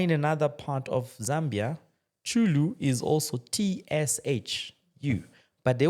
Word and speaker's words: Chulu: We could have used CH. For instance, my surname, Chulu, right? Chulu is CHU. I mean, CHULU. Then you find in another part of Zambia, Chulu is also TSHU.